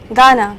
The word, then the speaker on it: gonna: তো উচ্চারণটা কি হবে? গানা না গানা? Gana. গানা, গানা বলো। Gana. হ্যাঁ, গানা।